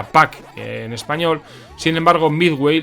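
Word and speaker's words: Pac-Man: como pucman en Japón en inglés se pronuncia pack en español sin embargo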